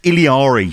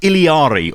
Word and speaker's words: Illari: I think most people are probably going to just say Illari, but I think it is pronounced Illari.